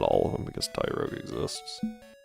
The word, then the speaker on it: Tyrogue: Well, not all of them because Tyrogue exists. I had a friend once that pronounced that Trog and I was like, "What?"